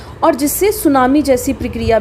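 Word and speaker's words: tsunami: अब यहाँ पे एक चीज़ दे रखी है, सुनामी। सबसे पहले कई बार ये पूछा गया है, इसमें टी साइलेंट रहता है।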